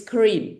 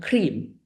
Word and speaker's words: Kareem: So what you see on the screen here is Kareem, which means generous, and people usually pronounce it cream, shadi, which means the singing one, and people definitely pronounce it shi, which is totally wrong.